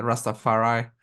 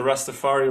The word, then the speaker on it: Rastafari: And there's But yeah, also that guy, the Rastafari, but he also oh always yeah, puts the accent on the I on Rastafari and I.